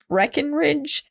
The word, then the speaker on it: Breckenridge: And Charles Lindbergh even hired a private investigator for himself named Henry Breckenridge. I almost said his name wrong.